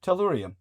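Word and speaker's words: tellurium: Uh Brendan has uh brought to our attention that torium or how how do we pronounce it? Yes. Tallurium primarily used in solar panels uh in this day and age.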